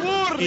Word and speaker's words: Burberry: ¡Burberry! Y le cortó el pescuezo. ¿Cómo se pronuncia, Dick, bien eso?